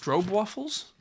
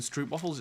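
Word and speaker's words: stroopwafel: uh strobe waffles oh apparently it's pronounced strobe waffles rather than strip waffles it's strobe waffles ah oh it's a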